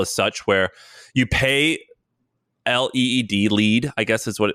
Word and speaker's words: LEED: Have you heard of, I think it's pronounced LEED, LEED? LEED certified, the like green buildings thing.